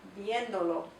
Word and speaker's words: viéndolo: Now, because we're tacking that onto the end, we need to add an accent mark, because we want to keep the pronunciation, the emphasis still on the original viendo for this verb. So we want to say viéndolo.